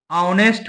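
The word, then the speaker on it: honest: अगर हम लिख देंगे ऑनेस्ट बॉय तो इसमें एच साइलेंट है इसको पढ़ा जाता है नेस्ट तो ऑनेस्ट में देखिए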